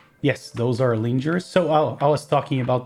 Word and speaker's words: Linjär: I think they're pronounced Linjärs. I think the J sounds like an E. Yes, those are Linjärs.